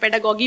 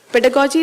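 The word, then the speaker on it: pedagogy: उसको लोग प्रोनाउंस भी गलत करते हैं, पेडागॉगी बोलते हैं कई लोग उसको. पेडागॉजी is very very important.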